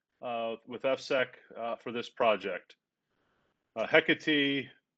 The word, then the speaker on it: Hecate: Hecate, it's hard to pronounce sometimes for some folks, but it's Hecate.